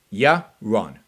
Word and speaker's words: Yaron: you don't pronounce it you pronounce my name euron yeah wrong yeah wrong pretty simple yeah wrong all right